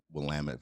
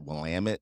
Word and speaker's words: Willamette: do you pronounce uh Willamette Valley is it Willamette or Willamette like how do you pronounce that yeah well damn it yep that's the way